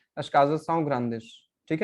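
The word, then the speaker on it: grandes: अशकाजा साउ ग्रांदिश, ठीक है। तो यहाँ पे डी ग्रांद किस में बदलेगा? ग्रांदिश में।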